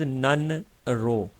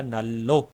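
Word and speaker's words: 난로: है गर्मा देता है लेकिन जब हम इसको कोरियन की तरह प्रोनाउंस करेंगे तो इसका जो फाइनल साउंड निकलेगा वो निकलेगा नल्लो नलो सो दोस्तों इसी तरह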